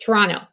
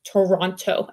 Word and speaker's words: Toronto: know anyone from Toronto we don't pronounce the second T we drop it I don't know if we think we're cool or something or what but we say Toronto not Toronto anyway so we will